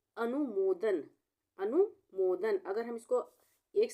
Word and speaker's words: अनुमोदन: हम पहले पढ़ेंगे अनु, इतना छोटे ऊ की मात्रा है तो अनु बोलेंगे, ना कि अनु। इसको हम बोलेंगे अनु। उसके बाद हम पढ़ेंगे मोदन। अनुमोदन, अनुमोदन।